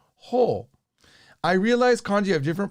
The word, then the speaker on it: ほう: However, I also know the kanji can be read as kata. It seems like I hear kata in conversations more than I do ho.